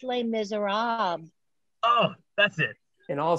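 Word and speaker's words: Les Misérables: bring you les miserables uh marbles misers it's pronounced les miserables oh that's it in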